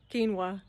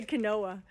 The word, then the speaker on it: quinoa: the time so it took me a several years to learn to pronounce uh quinoa so I would say Canoa anyway um what else